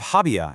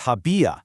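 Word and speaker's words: había: So instead of habia as two syllables, the tilde on the I forces it open, giving us habia, stretched out into three syllables.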